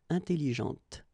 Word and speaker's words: intelligente: When you put this well, actually you will pronounce the final T, okay, but you don't pronounce this here. Intelligente.